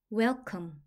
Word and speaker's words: welcome: 같이 소리 나서 컴 웰컴 한 번에 읽으면 welcome welcome 환영하다 라는 뜻이에요에는 느 오는 오후 소리가